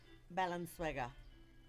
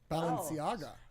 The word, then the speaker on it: Balenciaga: Balenciaga. What is it? Wait. Balenciaga. It's like La Cienega. Balenciaga. It's very much like La Cienega.